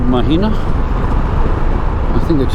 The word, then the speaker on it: Mathina: It's Mathina.